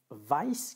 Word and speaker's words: vice: Pour le premier mot, c'est vice et un vice, et pour le deuxième mot, c'est service.